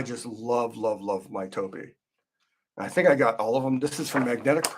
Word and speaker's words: Toppi: I believe it's pronounced Toppi, not Toppi.